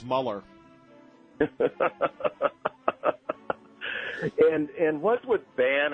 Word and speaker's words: Mueller: guy for you know I like the German pronunciation but it's Muller and and what would